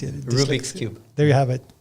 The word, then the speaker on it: Rubik: which could manipulate the cubic the cubic cube rubrics rubrics i can never pronounce it rubik's cube there you have it and uh and